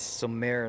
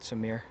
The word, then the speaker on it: Samir: I've been saying his name wrong all throughout. It's Samir, not Samir.